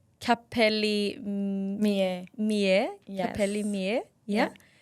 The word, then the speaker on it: Capelli Mie: Okay, so your hair extension business, let me see if I can pronounce that correctly. It's Capelli Mie.